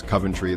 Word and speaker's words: Coventry: socket or one socket Coventry this one I hear pronounced in a couple of ways but usually not the British way which is Coventry the place that was bombed during World War II people I have often heard it said is Coventry those are those were